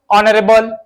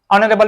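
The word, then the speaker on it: honorable: जब इनके first letter को साइलेंट करते ना, चलो तो यहां से पढ़ोगे आवर, ऑनरेबल, ऑनरेबल man, honest, है ना।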